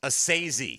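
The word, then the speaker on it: Esezi: It's like and then S-A-Y in bold letters. That's like what you stress. Assisi.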